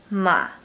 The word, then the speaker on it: 嘛: Number 4 is ma. Ma. Its pitch is very low and it sounds pretty similar to ma, this word.